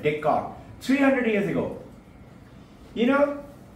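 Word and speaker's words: Descartes: it a d e s is silent Decor 300 years ago you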